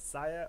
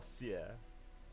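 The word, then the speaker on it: Cyre: Is it Saya or Sia? Yes. Yes. Either. Yeah. I think it's either. Okay, let's just say sire.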